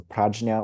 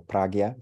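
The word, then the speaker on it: prajñā: intelligence or discerning awareness, or prajna or pragya, different ways of pronouncing it.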